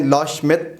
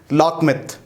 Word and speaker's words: Loschmidt: Student मैंने आपको एक टर्म पढ़ाई है, उसको हमने लॉ श्मिट नंबर, या बाज़ दफ़ा इसको आप बाज़ प्रोनाउंसिएशन इस तरह भी करते हैं लॉकमिथ, LOSCHMIDT, लॉ श्मिट या लॉकमिथ नंबर इसे प्रोनाउंस किया जाता है।